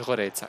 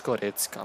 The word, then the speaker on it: Goretzka: No es Goretzka, es Goretzka, macho. Pierde la posición. No es complicado, ¿eh? Yo no soy alemán y lo pronuncio bien.